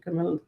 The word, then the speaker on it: Kamala: It just happens to rhyme with her name, Kamala. Kamala, the chameleon.